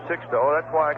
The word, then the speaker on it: Sixto: two and one we always uh check with the players when they first come up on how they want their name pronounced and he said six though that's why I call